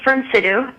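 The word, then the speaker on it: Fyrnsidu: My religion is called Firm Sidhu, and you've never heard of it. Could you spell it?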